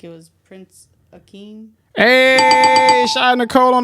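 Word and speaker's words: Akeem: I feel like I'm about to pronounce it wrong, but I feel like it was Prince Aeen.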